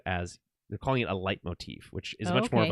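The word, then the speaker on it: leitmotif: talking about it as they're calling it a light Motif which is much more of a musical term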